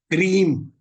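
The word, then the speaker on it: क्रीं: का वो मंत्र है क्रीम के आर आई एम इसको उच्चारण किया जाता है की आर ए एम क्रीम ये काली जी का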